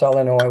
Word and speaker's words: Illinois: I hate when people pronounce the S in Illinois.